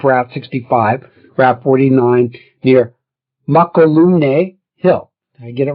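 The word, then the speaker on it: Mokelumne: Mokilume. It's pronounced Hawaiian style, okay?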